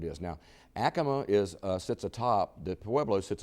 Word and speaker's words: Acoma: And if you go to visit there and you go on the tour, they'll tell you, no, we're not in Acoma. This is Acoma, is what it is. Now, Acoma sits atop, the Pueblo